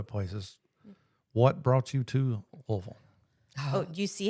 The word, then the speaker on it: Louisville: lot of other places, what brought you to Louisville? Oh, do you see how he Louisville? Louisville.